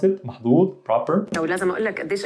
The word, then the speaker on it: محظوظ: lucky محظوظين the plural however in عامية we could pronounce the as a heavy z sound so you could say محظوظ you might hear this a lot instead of the محظوظ you would hear ز محظوظ okay محظوظين تمام but she